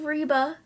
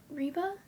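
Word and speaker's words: Reba: Um, oh, I I watched a bit of Reeba that year, too, because they would play Reeba after More Girls. Reeba.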